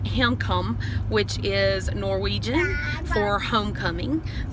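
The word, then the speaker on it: Hjemkomst: up we enjoyed our drill it is actually pronounced income which is Norwegian or homecoming so I'm going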